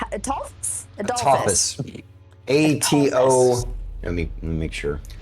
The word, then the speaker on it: Atophus: So the question still stands: do we go for The, Adolphus? Adolphus? Atophus. A-T-O. Let me make sure. Like Apophis, but with a T, as in the god.